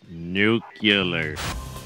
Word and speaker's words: nuclear: It's pronounced nuclear.